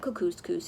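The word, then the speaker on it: Kookooskoos: better the camp anyway welcome to camp cuckoos coos it rhymes with moose that's another good thing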